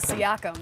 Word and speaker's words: Siakam: really lock you down, and then I always mispronounce his name, Siakam. Pascal Siakam.